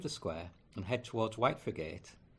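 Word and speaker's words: Whitefriargate: square and head towards White forgate how we pronounce it locally by the Pelican Crossing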